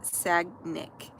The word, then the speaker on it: Sagnik: My name is pronounced Sagnik. Okay, I'm saying it better now because yesterday I was saying it wrong the entire live.